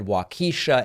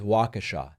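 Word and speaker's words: Waukesha: a focus group in wakasa Wisconsin I hope I'm pronouncing that correctly at one point I said wakisha and that's very much wrong I believe that it is wakashaw don't email me about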